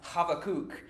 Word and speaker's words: Habakkuk: we do know so his name in Hebrew is actually pronounced havoc and that's the English